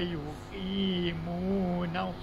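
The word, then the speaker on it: يُقِيمُونَ: wiwu yau wa yuqimun apabila kita bunyikan panjang bunyi panjang Qi dan mu.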